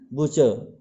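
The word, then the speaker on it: butcher: तो जब आर से पहले स्वर आएगा, कोई भी स्वर हो, तो आर का उच्चारण जो है प्रोनाउंसिएशन साइलेंट हो जाएगा।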